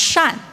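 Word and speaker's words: 扇: gifts but you see fans pronounced Shan Shan and benevolence is also pronounced Shan so it's a reminder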